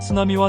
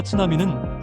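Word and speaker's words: 津波: 스나미와 츠나미는 확실하게 발음이 틀리지요.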